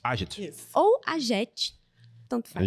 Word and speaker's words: AGET: com o Rogério da AGET. AGET. Isso. Ou AGET. Tanto faz. AGET. Obrigada por terem vindo. Geralmente as pessoas, né, falam AGET. A gente já não... É AGET, né, a pronúncia correta.